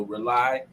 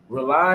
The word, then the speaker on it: Rauli: to family radio show rely it's spelled r a u l i and it stands for uniting excuse me rely radio is spelled r-a-u-l-i